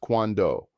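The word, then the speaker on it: cuándo: When iswando pronounced quando. Again, notice the accent mark on the first syllable.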